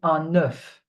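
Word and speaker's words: œuf: So for one egg we say enough. An okay. So the F is pronounced but for plural it the pronunciation will change. We say the zoo.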